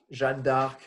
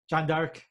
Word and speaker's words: Jeanne d'Arc: How you pronounce it in French? Joan of Arc? Joan of Arc? Jeanne d'Arc. Jeanne d'Arc.